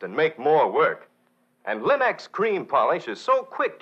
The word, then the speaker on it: Linx: cream polish and Linux self-polishing wax remember Linx is spelled l i n-x Linux so ask for these fine homemaking products now